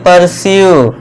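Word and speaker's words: pursue: देखिए fourth रूल, जब किसी वर्ड के लास्ट में यू ई आए तो यू ई का उच्चारण दोस्तों क्या करना है, फिर से यू का करना है। देखिए ज़्यादातर दोस्तों यू ई का उच्चारण आपको यू ही करना है।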